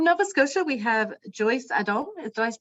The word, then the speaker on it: Adom: And from Nova Scotia, we have Joyce Adom. Did I pronounce that correctly, Joyce?